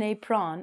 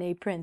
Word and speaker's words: apron: Not an apron, an apron.